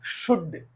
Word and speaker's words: should: four L plus d L comes before D then L is always silent for example c l c l could but not could could s u l d should but not should w